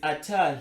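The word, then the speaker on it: אתה: So the vowels are patah and then kamat. Okay, this is a short a and a long a. It's patah and kamat. Right, then it's ata. It's like this, ata.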